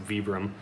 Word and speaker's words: Vibram: about now so and uh i guess i'm pronouncing it wrong it's a vibram but it's all good stuff and then you